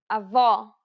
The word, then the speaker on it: avó: The letters A, E, and O each have an open and closed variant, and many Portuguese words differ only in the openness of the vowel.